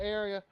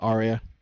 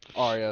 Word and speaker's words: Aria: He's looking around, but sacked by area. Pick up loss of 10 on the play, right? Did I say her name right? If I said it, I'm sorry. Yeah, Aria. Aria, excuse me.